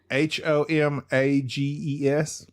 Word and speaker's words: homages: Homages. Oh, okay. Homages. Oh. You don't pronounce the H. Oh, I think gotcha. it's a French word.